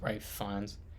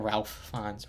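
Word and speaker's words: Ralph Fiennes: having to right uh Ray fines I think it's pronounced it's pronounced right finds not Ralph fans right well yeah let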